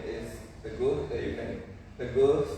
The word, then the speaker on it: Teguh: So you can Teguh. So kan biasanya tamu tuh beda pronounce-nya gitu. Biasanya bilang too good, too good. My name is Teguh ya, but not too good gitu.